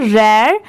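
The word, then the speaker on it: rare: इसकी प्रोनाउंसिएशन क्या है? रेयर यह है हर्ब।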